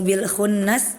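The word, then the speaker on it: بِٱلْخُنَّسِ: Nah, yang pertama itu ayat 15, fala uqsimu bil khunnas, pakai kha, benar.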